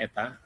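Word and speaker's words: η: n tapi kakinya panjang sebelah yang kanan Lebih bacanya Eta nah ini simbol median menjadi hipotesisnya bukan pakai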